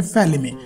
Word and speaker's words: Falimy: है जिसका नाम है फैमी हां मैं प्रोनाउंस गलत नहीं कर रहा हूं बट एक्चुअल में मूवी का नाम ही है फैमी तो भाई मेरे लिए